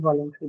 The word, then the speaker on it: voluntary: So this is an adjective, and adjectives are usually marked on which syllable? Second. No. Second. Adjectives, just like First noun, are one. marked on the first syllable.